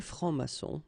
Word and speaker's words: francs-maçons: S here and S here. Des francs-maçons, and then you don't pronounce them.